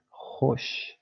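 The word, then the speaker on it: خوش: So hosh. This is not hush or something else. This is O, like hosh.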